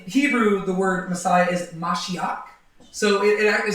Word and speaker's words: Mashiach: It is Moshiach. In Hebrew, the word Messiah is Mashiach.